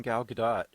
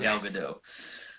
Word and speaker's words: Gal Gadot: the the chemistry between gal gadot and uh uh chris pines is is is there it is by the way we've been saying it wrong it's not galvado but yeah the chemistry